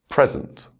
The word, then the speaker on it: present: Present, present.